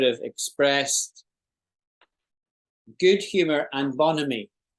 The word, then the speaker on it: bonhomie: called bonhomie. Bonhomie. Bonhomie. Bonhomie. Yeah. Bonhomie. Let's hear it pronounced properly.